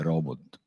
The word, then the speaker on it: robot: il termine robot Ecco noi lo pronunciamo un po' alla francese ecco Però in realtà sarebbe robot in realtà poi Il